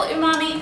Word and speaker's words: umami: imami is spelled u m a m i o mommyyy mmmy and it's it's a Japanese